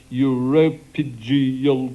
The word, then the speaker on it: uropygial: Okay, Sheila, what is a uropygial gland? Uropygial gland. That's what I'm told. I asked how to pronounce it before, and that's what they said.